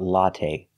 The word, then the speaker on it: latte: now let's talk about latte we say latte we don't say latte the last syllable is the long a a it's not stressed but we use the long a like say and pay latte make a long